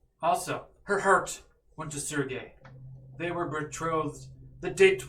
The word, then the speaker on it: Sergei: How do you say that word? Sergey? Sergey. Very Russian.